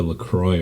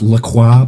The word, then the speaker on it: LaCroix: It's actually pronounced LaCroix, by the way. It's French. LaCroix. No, it's LaCroix, and you don't pronounce the at the end.